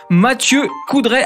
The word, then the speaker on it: Mathieu Coudray: Il s'agit de monsieur Mathieu Coudray, alias Maz. Je prononce bien ?